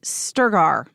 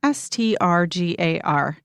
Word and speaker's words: Strgar: And the 4th book is Sex That Works, An Intimate Guide to Awakening Your Erotic Life by Wendy Sturgar. That's how I think we pronounce it, Strgar.